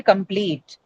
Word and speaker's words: complete: The stress moves from the first syllable to the second syllable, right? Example, complete, right? The example that you have on the screen. Complete. Two syllables ideally should be marked on the syllable com, but because pleat, the second syllable carries a long vowel e, you move the shift or you as in we don't move the language, the phonological rules of the language causes the stress to shift from the first syllable to the second syllable.